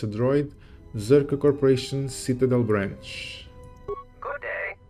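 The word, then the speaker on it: Czerka: you through yeah and I was correct it's pronounced zurka let's see um what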